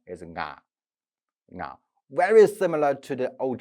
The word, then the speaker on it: 我: What is the ancient pronunciation? Nga. Here, nga. Or in Middle Chinese, ngo. Here is a nasal consonant in front.